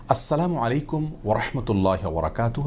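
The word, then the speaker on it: السلام عليكم ورحمة الله وبركاته: দেওয়া অনেকে আসসালামু আলাইকুম অনেকে আসসালামু আলাইকুম এরকম বিভিন্ন বিকৃত উচ্চারণে সালাম দিয়ে থাকেন জনক ইয়াহুদী আমাদের প্রিয় নবী সাল্লাল্লাহু আলাইহি ওয়াসাল্লামকে বিকৃত উচ্চারণে সালাম দিয়ে বলেছিলেন আসসালামু আলাইকুম যার কারণে আসসালামু আলাইকুম ওয়ারাহমাতুল্লাহি ওয়াবারাকাতুহু এভাবে বিশুদ্ধ উচ্চারণ আমাদেরকে সালাম দিতে হবে তাছাড়া আসসালাম এটি আল্লাহতালার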